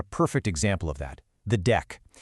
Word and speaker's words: deque: And a quick tip, you usually just pronounce it deck. You know, like a deck of cards.